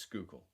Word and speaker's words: Schuylkill: It's Schuylkill. It looks like Schuylkill River. It's Schuylkill.